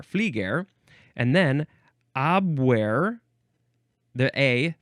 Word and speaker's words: Flieger: It starts with Flairger. That's the FL from Flairger. Flieger. There's no R there. Flieger.